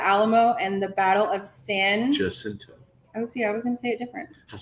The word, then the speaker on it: San Jacinto: and the Battle of San. Jacinto. Oh, see, I was going to say it different. Jacinto. Yeah, I was going to say it like we that. say in Texas, we say San Jacinto.